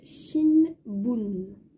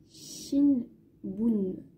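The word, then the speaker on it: 新聞: Ça va se dire shinbun. Shinbun. Du coup, ça va être un SH et avec bun, un B.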